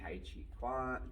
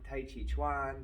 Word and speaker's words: Tai Chi Chuan: And we say Tai Chi, we say Tai Chi, Tai Chi Quan, Tai Chi Chuan. Some people say Quan because they can't pronounce it.